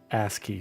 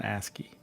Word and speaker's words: ASCII: She's a asy. Sorry, it's an asy. I always have to I always say it wrong. It's an asky.